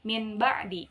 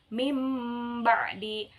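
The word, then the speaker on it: مِنْ بَعْدِ: Maka di situ dibacanya yang tadinya itu dibacanya kan min ba'di. Tetapi karena ini ada huruf iklab ba, maka diubah menjadi mim mati. Mim ba'di, mim ba'di.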